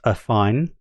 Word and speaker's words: AFFiNE: Then the pronunciation just for those that worry about that it is pronounced a fine rhymes with define confine there's a Q&A as